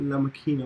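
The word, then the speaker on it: La Máquina: And how do you pronounce it? La Maquina. La Maquina.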